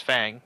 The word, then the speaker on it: Fang: our own interpretation but Fang is like it's Fang like I I know I say Fong it's a Mexican thing man just you know